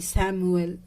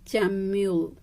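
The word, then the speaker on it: Chamuel: Third चक्रा आर्कएंजल चैम्यूल, जानते हैं ये चैम्यूल बोलना मेरी दी ने मुझे सिखाया है। ठीक है, मुझे प्रोनाउंसिएशन में पहले इसको पढ़ती थी सैमुअल वैसा। ठीक है, फिर उन्होंने मुझे मैसेज किया नो नीतू इसको पढ़ते हैं चैम्यूल वैसा, फिर मैंने बोलना स्टार्ट किया चैम्यूल।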